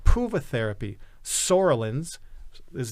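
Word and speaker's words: psoralens: century called puva therapy sorellins is the p is silent P that's the chemical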